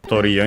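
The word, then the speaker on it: トリオ: Uh is accent on the first syllable.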